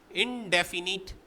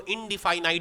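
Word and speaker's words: indefinite: पहला पॉइंट डाल के लिखिए इनडेफिनिट इंटीग्रेशन, कुछ लोग इसको इनडिफाइनाइट भी पढ़ते हैं, आप जैसा प्रोनाउंस करना चाहो करो, लिख सही लेना भाई बस।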